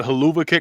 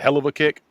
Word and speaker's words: hell of a kick: I thought it was the hell of a kick. Fuck yeah. Yeah. Because the way it's spelled, like hell of a kick, but it's haluva kick for some reason, which is stupid.